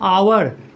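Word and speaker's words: hour: जैसे फिर दूसरा एग्जाम्पल मैं दे रहा हूँ आवर, एच ओ यू आर, आवर, तो आवर में भी एच साइलेंट है, हावर तो होता नहीं है ना, आवर, आवर आ रहा है, एच साइलेंट है,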